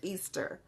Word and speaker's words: Ishtar: it's tired hurt so the way that you pronounce that is Easter so that's why I